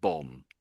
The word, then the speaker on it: bomb: Yeah, I think you're the second B is basically I would say silent and it's always pretty much in every version of the word it comes out as silent really. So, it's just bomb. Bomb. Yeah. Although there's a B, it's just silent. That second B, that's it.